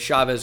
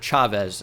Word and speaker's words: Chavez: I might have to still move back up in this draft, right, as Chavez goes off the board. Or Chavez, actually, is how that's pronounced.